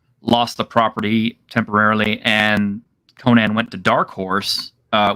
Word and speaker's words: Conan: incorrectly in samaria but conan himself would have said that i'm conan from uh from chimeria and not sonan from samaria and um just a